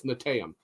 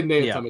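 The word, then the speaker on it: Neteyam: I always get the two syllables backwards. It's Netaim. I always say Neatum. It's Netaim.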